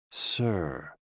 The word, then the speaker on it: si: associated with the heart s i pronounced like Sir with a slow exhale which is associated with